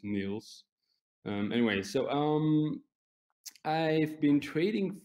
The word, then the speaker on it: Niels: Most people cannot pronounce it because most of our customers and traders are in the US and they say Niles or Neil, but it doesn't really matter for me. But the right way to pronounce it is Niels.